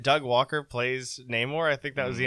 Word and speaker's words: Namor: And he pronounces it like that Latin type of way, Namor.